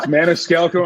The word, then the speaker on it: Maniscalco: in in Switzerland um the real way to say my name is not how I say it I've anglicized it that's what my family